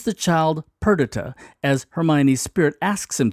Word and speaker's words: Perdita: By the way, looking at the iambic pentameter, I believe the correct way of pronouncing the baby's name is Perdita, is counted lost forever Perdita. If it's Perdita, it follows up the meter.